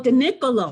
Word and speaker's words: DiNicolo: He is a co-founder and partner of Richardson and Ober, and am I pronouncing this right? DiNicolo? DiNicolo. Oh, DiNicolo.